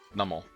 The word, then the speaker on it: Numel: early in the game numel I'm pretty sure that's how you pronounce it numel I used to say new Mel all the time but I think I saw in a in a anime episode that it's normal and see that